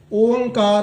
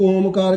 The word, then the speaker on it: ओंकार: वह सर्व व्यापक है ओंकार अ द उच्चारण ज संगत कर देने कई एक ओमकार कने कई ओमकार कने कई और कुछ जो क ब इ ज सही उच्चारण है इ ओ तीन